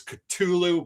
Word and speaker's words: Cthulhu: Yes, the correct pronunciation is Cthulhu, but your mind and your mouth always want to put the th in it, So I'll probably say Cthulhu, Call of Cthulhu.